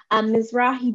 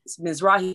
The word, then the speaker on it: Mizrahi: So I was wondering if you could define Mizrahi Jews and as well as Bekarin Jews. I believe I pronounced it right.